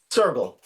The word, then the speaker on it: Soergel: h a kuu and your last name is pronounced sergle sergle sergle yeah German family name yeah and the Japanese